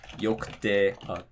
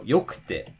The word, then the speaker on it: yokute: Again, the drop is going to be before the ku. So, yokute, takakute, mijikakute. And so, again, you can think of it in terms of, oh, it doesn't matter how many syllables long the word is. It's not heiban, which means it drops before the ku.